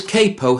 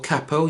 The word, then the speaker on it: capo: Now this capo here or cappo you can choose which way you wish to pronounce it is the equivalent of this.